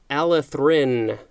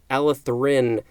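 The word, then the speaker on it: allethrin: that next we have Alice Rin I put a little extra emphasis on that our Alice Rin a ll e th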